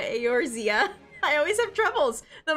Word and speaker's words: Eorzea: Once you see like the words, it because it's not pronounced the way it's spelled. Yeah, Eorzea.